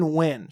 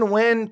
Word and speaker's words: Nguyen: I think it's Steven Nguyen.